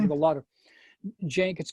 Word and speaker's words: Cenk: with a lot of Cenk. It's spelled CENK.